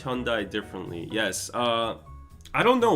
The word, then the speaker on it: Hyundai: you see their marketings, like they pronounce it Hyundai. Yeah. At least I don't. At least some people like they say Hyundai, so at least it's not that, right? So Hyundai is how you pronounce it.